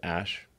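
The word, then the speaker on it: Æ: x um and then the ae is like pronounced ash yeah and then a12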